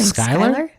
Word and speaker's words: Schuyler: John Ashbery James Schuyler I actually don't know how to say his last name Schuyler its SCH you why yeah Schuyler Lake from Hamilton oh okay yeah so